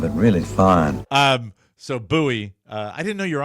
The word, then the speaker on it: Bowie: So he said, "Do you why would they call it buoy?" I said, "It's not a bad pronunciation. It really isn't."